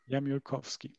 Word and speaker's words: Jamiołkowski: And And how would you pronounce it correctly? Jamiołkowski.